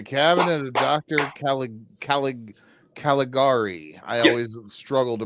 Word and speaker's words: Caligari: Cal Calig Caligari. I always struggle to pronounce that one.